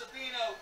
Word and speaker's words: Savino: It's pronounced Savino, Mr. PA.